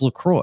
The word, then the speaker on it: LaCroix: tried Lacroix I do people freak out about Lacroix I just worse don't like they pronounce that I really don't dude yeah I've heard so many different pronunciations of that word it's Lacroix it's yeah so how long have you been